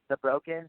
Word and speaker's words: THEBRKN: It's The Broken. It's THEBRKN is how it's spelled.